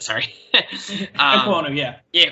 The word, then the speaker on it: Ekwonu: said, the guy at NC State, I can't pronounce his name ever, Iguaku, whatever you said. Sorry. Ekwonu, yeah. Yeah, Ekwonu, whatever the fuck.